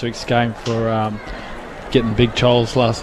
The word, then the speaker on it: Chol: game for getting Big Chol's last name wrong a few times last. I said Chow, not Chol.